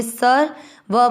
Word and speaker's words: सर्व: सहित समझेंगे पहला चरण स पूरा व के ऊपर आधर स के साथ बोलेंगे सर व में अ मिक्स करेंगे सर्व ध पूरा मा के